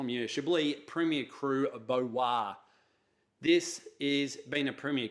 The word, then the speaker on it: Beauroy: but 2014 identify munitia Blee premier cru of bo wah this is been a premier cru line this